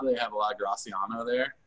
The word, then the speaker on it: Graciano: So if you've ever had a Spanish wine like a Rioja, they have a lot of Graciano there. They pronounce Graciano. They don't say the C.